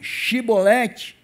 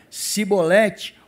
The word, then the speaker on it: Chevrolet: eu sou bom então dize chevrolete porque ele dizia cebolete porque eu não podia pronunciar assim bem eles falavam errado uma vez de falar chevrolete falavam cebolete né É como se falar